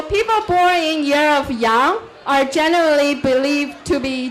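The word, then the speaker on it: 羊: Because in Chinese, it is one single character pronounced as yang that represents all.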